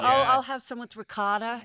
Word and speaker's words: ricotta: raised her kids in Cleveland, and she said, "Can you please pronounce it correctly? It's mozzarella ricotta."